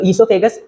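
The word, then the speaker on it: oesophagus: spelling है इसोफागस की वो ओ से स्टार्ट हो रही है बट ओ क्या होता है साइलेंट होता है तो इसोफागस बोलेंगे इसोफागस से लिखेंगे ओ से ठीक है जो यहां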